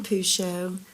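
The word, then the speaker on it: Pourciau: Um, my name is Pusho, spelled with a.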